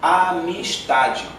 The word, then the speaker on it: Amistad: Amistade. O D é mudo no final.